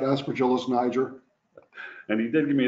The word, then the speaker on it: Aspergillus niger: next 15 minutes, hopefully I pronounce this correctly, Aspergillus niger. Yes, good morning. So, not Aspergillus niger. And he did give me a thumbs up, I did pronounce it correctly.